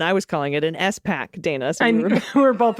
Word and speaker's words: SPAC: A SPAC, Special Purpose Acquisition Company, is referred to as SPAC, not SPAC, and I was calling it an SPAC, Dana.